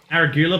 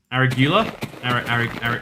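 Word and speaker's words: arugula: here right now um aragoola but you're saying it wrong aragula every oh it's it's like a regular right it's like irregular but like a regular that's what it is my bad um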